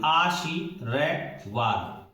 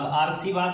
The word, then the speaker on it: आशीर्वाद: र लगा हुआ है उसको पहले बोलेंगे इस जो वर्ण है उसको बाद में बोलेंगे आशीरवाद तो जल्दी बोलेंगे आशीवाद यह सही है यदि इसको पढ़ना पड़े उच्चारण की दृष्टि से आ और इसको पढ़ेंगे पहले आ आ सीवाद आर सवाद हो गया तो यह सभी स्थितियां गलत है तो यहां जो शब्द